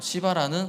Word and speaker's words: 시바: 시작했습니다 그러다 찾은게 이제 시라는 어 발음을 좀 조심해야 되는데 어 시바라 사울의 종이었다게 아 다윗